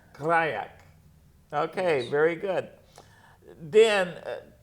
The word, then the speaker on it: Grajek: Last name is pronounced Grajek. Grajek.